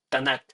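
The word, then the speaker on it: Tanakh: k en mayúscula eh se le ponen las a en medio de esas mayúsculas solo para pronunciar para tener Cómo pronunciar para no decir t n K Entonces le ponen las a para decir tanac y el tanac en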